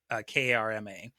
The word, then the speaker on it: Karma: Manfred von Karma, and it is spelled exactly how it sounds. Okay. Karma.